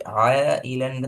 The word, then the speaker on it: عائلا: ஆய இலன்னு தொண்டையால வாரதும் போதாது. அது சொல்ல உச்சரிச்சு பாருங்க.